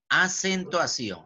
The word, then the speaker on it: acentuación: Acentuación, comienza con A, que está a la izquierda, sión, que está a mi derecha, entonces la sílaba sión, sión lleva la mayor fuerza de voz, por lo tanto, es aguda.